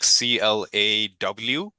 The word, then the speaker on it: Claude: So Google Claude. So you'll pronounce it like CLAWDE.